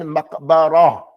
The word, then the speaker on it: مقبرة: Ilal maqbara. It's a ra, and there's a ta marbuta at the end. That's going to be pronounced like what? As a ha.